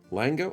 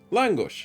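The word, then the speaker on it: lángos: No, it's not Lango. This one. Oh, but it's not going to pronounce it. Let's try Translate. Swedish. No, no, no, no. Is it Swedish? No, I want it as a Hungarian. Langosh. Langush. Yeah, there we go.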